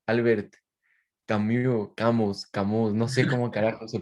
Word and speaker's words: Camus: Sabemos que se dice Camus, sabemos que en francés se debe pronunciar así, pero la verdad es que no nos importa y vamos a decir Camus.